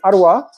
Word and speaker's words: Aouar: So in Arabic, it's Arwa, but it's pronounced HOUSSEM AOUAR.